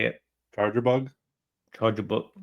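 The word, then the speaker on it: Charjabug: Charger bug. I always want to say bugger chaw, but it's charger bug.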